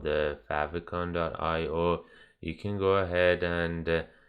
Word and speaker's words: favicon: other website, it's called I might be saying it right, but I say favicon, so you can like have fav icon or favicon, and that's what we